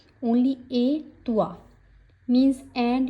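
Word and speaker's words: et toi: मर्स ए तुआ। सो ए का मतलब होता है एंड। इसमें टी नहीं बोलेगी। ओनली ए तुआ मींस एंड यू।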